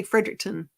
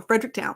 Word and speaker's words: Fredericktown: Missouri um Frederick yeah I just say Fredericktown because I would say Fredericton as a southern person I have to say it like a Missouri person yes Brent there we go Fredericktown very cool thank you